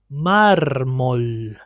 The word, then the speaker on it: mármol: Now here, mármol. Now here the reason why we say it multiple is because it's the last letter of the first syllable.